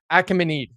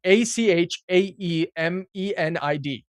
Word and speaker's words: Achaemenid: Great unified the Persian tribes and founded the Achaemenid Achaemenid Achaemenid. All right. It's It's spelled a c h a e m e n i d. Achaemenid. Achaemenid. Achaemenid. Achaemenid. Achaemenid.